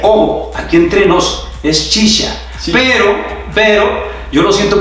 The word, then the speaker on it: Ciccia: porque te cuento que en Uruguay también me pronunciaban Cicha o Cicia, entonces ya uno se va acostumbrando, aunque ya cuando adquirí un poco más de conciencia, he tratado de instalar el apellido como se pronuncia, pero sí me siento más